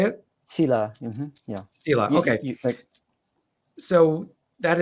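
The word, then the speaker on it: sīla: karma, and there's a concept called the 5 silas. Am I pronouncing that correctly? Sila, which is, how do you say it? Sila.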